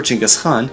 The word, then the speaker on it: Genghis Khan: India is notable for not being conquered by either Alexander the Great or Genghis Khan, yes, that's how you pronounce his name.